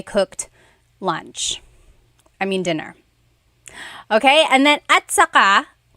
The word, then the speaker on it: at saka: Okay, and then at saka, technically it's spelled at saka. But when it's pronounced, remember the TS combination, it makes that ch sound.